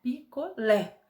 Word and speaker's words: picolé: forte da palavra né picolé O Lé é mais forte então O Lé é a sílaba tônica e essa sílabas t